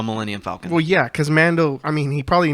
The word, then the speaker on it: Mando: Mando, by the way, you were saying it right. Okay. I was hearing Lando. I just want to make sure they know. Mando with the M.